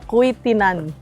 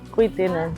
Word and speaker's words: Quituinan: So guys, nasa ano tayo kuwitinan. Ganun pala yung tamang pronunciation niya. Kitinan.